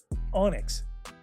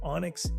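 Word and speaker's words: Onix: Number 15, Onyx, the rock snake with a typo. Sounds like Onyx, the black gemstone, but spelled like your uncle's email password.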